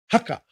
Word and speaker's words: haka: For example, H is pronounced with a stronger breath, as in haka. So you have to push it out.